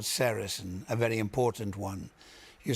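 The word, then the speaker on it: sericin: One of them is called sarasin. A very important one. You spell that s e r i c i n.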